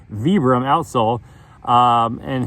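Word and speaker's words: Vibram: I mean, look at the look at the vebram outsole. Not like I I think I learned how to pronounce that. Vibbram outsole.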